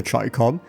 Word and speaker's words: Chicom: Call of Duty Mobile's very first meme weapon, the Tricom. Yes, that's how it's actually pronounced, fell into the former category.